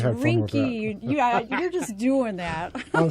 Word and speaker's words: Rinkney: No, you got it wrong again. It's Rinky.